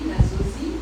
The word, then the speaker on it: Nasozi: And by the way, am I pronouncing it correctly? Nasozi? Yes. The French way? The French way.